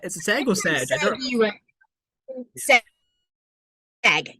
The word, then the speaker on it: SAG: SAG. Yes, like a saggy bag of flour.